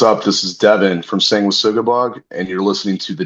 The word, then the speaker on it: Sanguisugabogg: Sanguisugabogg.